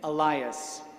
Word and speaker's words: Alias: The pronunciation of his first name, Dominic, ending with a Q, and of his middle name, Elias, spelled A-L-I-A-S, like alias, sometimes confounded people.